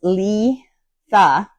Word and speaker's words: Litha: Uh, Letha pronounced Letha. Letha. I'll say Letha.